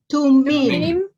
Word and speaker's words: Thummim: How do you pronounce those? Help me out. Tumim. Tumim.